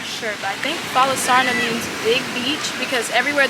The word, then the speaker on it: Falasarna: But I did see, and I'm not sure, but I think Falasarna means big beach, because everywhere there was Falasarna, there was big beach underneath it.